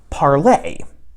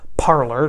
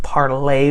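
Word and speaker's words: Parler: lot of people call parlor that's not technically how you're supposed to pronounce it i believe it's supposed to be pronounced parlay which is a french verb meaning to speak and i just used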